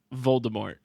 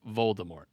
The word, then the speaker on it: Voldemort: And how do you pronounce the villain's name? Voldemort.